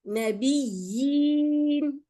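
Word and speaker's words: نبيين: Here again you have one ya and the other small ya on the top. So when I read it, it will be nabiyyin. Nabiyyin. The ya, I have to pronounce the ya.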